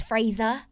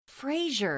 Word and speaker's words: Frasier: Frasier. There's not an H in it. No, Frasier. Yeah, it's Sier. Fraser. Like, how do you say cashier? Cashier.